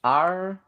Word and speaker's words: Artaxerxes: Yeah, it's Artaxerxes. Okay. 4 syllables.